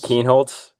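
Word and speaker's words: Kienholz: Lincoln Kinholtz. Keenholds.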